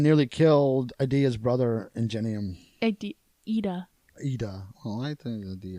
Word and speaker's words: Iida: Ida. Ida. Well, I think Idea. Ida.